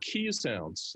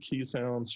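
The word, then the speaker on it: Keeshond: of time walking other key sounds spelled k-e-e-s h-u-n-d uh occasion is probably the more appropriate pronunciation they're dogs that originated in the netherlands we've had key sounds for um you know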